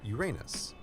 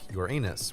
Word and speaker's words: Uranus: where i grew up i learned that the name of the seventh planet is pronounced uranus of course to a kid uranus sounds an awful lot like your anus which is how i